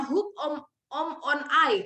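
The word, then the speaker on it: ὑπομονή: tarik dalam bahasa ibraninya Kalau bahasa bahasa ibraninya hupomone Tapi bacanya hope om on I katanya nah di dalamnya ternyata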